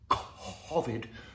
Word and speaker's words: COVID: That's how posh people pronounce it. During COVID, because it rhymes with Ovid, the poet of Metamorphoses.